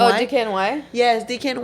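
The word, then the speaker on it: DKNY: um oh by by Dicky how do you pronounce that brown the DK DK and Y oh DK and Y yes DK and Y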